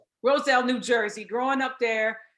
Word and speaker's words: Roselle: You're in, is it Rossell? I want to make sure I say it right. Roselle, New Jersey, growing up there, Abraham Clark High School.